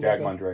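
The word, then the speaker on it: Jag Mundhra: So director Jag Mundra, is that how you pronounce it? Jag Mundra, yeah. Jag Mundra.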